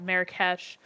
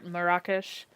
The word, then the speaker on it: Marrakesh: Uh a lot of people call it Marrakesh. Um but Marish um is I basically kind of how they um pronounce that there.